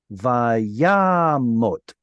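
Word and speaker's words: וַיָּמָת: Kamatz o, short vowel o, this one right here, will always be inside of a closed syllable that is unstressed. So that one right there is a kamatz katan. Let's read it as vayamot.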